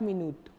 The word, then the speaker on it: minute: say as dans 5 minutes. Minute is pronounced, the spelling is same, but the pronunciation is different.